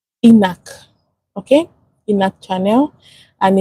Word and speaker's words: ENaC: So, it's pronounced ENAC. Okay? ENAC channel. And it's the epithelia sodium channel. Can you imagine? Epithelia sodium channel. I said excretion. Epithelia sodium channel. So, pronounced ENAC.